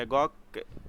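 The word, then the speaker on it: agog: एगॉग कैसा सुन, एगॉग, एगॉग, एगॉग अ डॉग, एगॉग ए डॉग, ठीक है।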